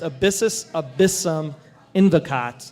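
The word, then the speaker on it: abyssus abyssum invocat: Latin which basically comes up to it it's pronounced abyssus abyssum endicott i had to google it did you google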